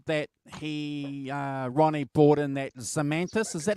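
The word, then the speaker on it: Zemaitis: Andrew also said that Ronnie bought in that Zemetis. Is that how you pronounce it? Zemetis?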